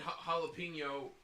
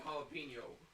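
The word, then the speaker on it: jalapeño: That's why in jalapeno, the J is pronounced like an H. We don't bother changing the H in the J in jalapeno, like, because in Spanish J means Okay, H.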